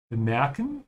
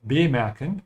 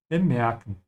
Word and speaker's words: bemerken: Notice the dot here and bemerken to tells you that the E in the middle should be stretched. So you should say bemerken und nicht bemerken und nicht bemerken. Yeah. So all these I said are wrong except bemerken.